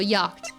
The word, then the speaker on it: yacht: SE silent oh I think so yeah so yacht yacht yacht yacht wait yacht okay Google translate